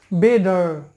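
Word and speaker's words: better: তাহলে এই উচ্চারণটা হবে ডয়ের মতো, তাহলে বেটার, বেডার, বেডার।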